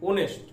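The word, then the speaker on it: honest: এম ই এস টি, ওনেস্ট শুরু হচ্ছে এইচ দিয়ে কিন্তু উচ্চারণটা আসছে কিসের, ও এর মতো। হয়ের উচ্চারণ বা এইচ এর উচ্চারণটা উজ্জ থেকে যাচ্ছে, সেখানে আমরা উচ্চারণ করছি ও এর উচ্চারণ।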